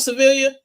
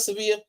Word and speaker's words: Sevilla: I love civilia. I mean, I love Sevilla. Uh, Civilia, that's terrible. I love Sevilla because I'm switching between uh English and and Spanish pronunciations.